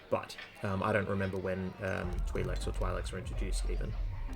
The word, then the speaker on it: Twi'lek: I'm going to start pronouncing it Twi'lek because the game does.